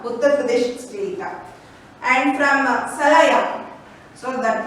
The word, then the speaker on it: Salaya: and from Salaya, so that pronunciation is very important.